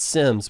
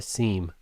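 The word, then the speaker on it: SIEM: interesting thing about and they call it sims but it's spelled s-i-e-m i want to call that a seam but yeah somebody told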